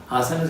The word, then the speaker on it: asanas: Como es sánscrito, el acento en español no interesa tanto. Suena algo así como asanas, y lo puedes escribir con H o sin H.